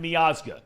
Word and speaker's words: Miazga: named last week yeah Matt meaza correct that's right that's the right pronunciation was suspended for three